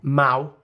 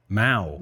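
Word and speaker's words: Mahou: the second best oh Mao Mao as in chairman it's spelled m-a-o-u basically if you Spanish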